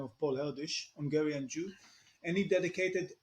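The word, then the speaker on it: Erdős: the 20th century by the name of Paul eldish Hungarian Jew and he dedicated all his life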